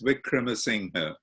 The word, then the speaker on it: Wickramasinghe: name as reasoning and it's a phonetic language single as it's pronounced exactly as it's written which is Vikram Singh well welcome would you